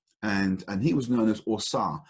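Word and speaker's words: Ausar: Osar is the Kemetic word for him. So Egypt was called Kemet. The Kemet word for him was Osar. A-U-S-A-R is how we spell it today.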